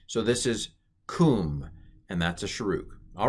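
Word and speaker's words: קום: This is pronounced kum, and it means rise.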